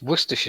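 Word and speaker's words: Worcestershire: source of Worcester sauce it's worse tisha sauce but some people could have Worcester sauce okay Oh God mispronunciation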